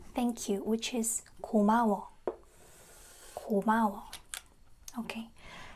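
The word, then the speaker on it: 고마워: So, how do you say gomawa? Go. Not co, co. Ma. Goma. Wa. Is it right to spell it like this? Gomawa. Gomawa. Yeah, it's gomawa. Gomawa, it's like thanks.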